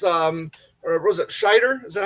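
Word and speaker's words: Scheider: Uh so, and it's um was it Shider? Is that how you pronounce his uh last name? Yeah, Shider.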